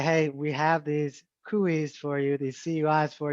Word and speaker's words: CUI: on facebook is actually kui kui because it sounds so much like gui yeah well i'm they're